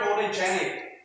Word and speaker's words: photogenic: Next, the word photogenic. So how many syllables? 4. Okay. Photogenic. So do you think, so where is the stress? Okay, so the stress is on the J. Photogenic.